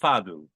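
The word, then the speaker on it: fado: the queen of fadu it's spelled f a d o but in Portugal it's pronounced fadu and this is not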